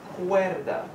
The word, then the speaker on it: cuerda: Y el juguete tiene una pelota de tenis y tiene una cuerda. Cuerda sounds like the word cord.